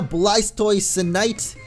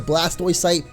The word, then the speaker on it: Blastoisinite: but it is the Blastoisinite. Blastoisinite, that is weird to say. I thought it was literally just the Blastoisite, but it's the Blastoisinite. Because you gotta add in the extra syllables in there.